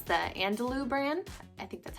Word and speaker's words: Andalou: It's the Andalou brand.